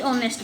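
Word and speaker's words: honest: नेक्स्ट देखिए, ही इज ऑनेस्ट बॉय। अब ऑनेस्ट में एच साइलेंट है, ओ क्या है? वावल साउंड है, तो इसमें क्या आएगा?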